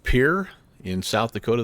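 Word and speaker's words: Pierre: it's uh it's pronounced Pier in South Dakota they actually don't call it the French pronunciation it's kind of like the pier like you go to the dock so anyway just so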